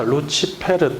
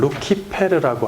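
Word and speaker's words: Lucifer: 자, 루치페르 또는 루키페르라고 하는데 루키페르는 고전 라틴어의 발음이고 교회 라틴어에서는 루치 페르로 발음을 합니다.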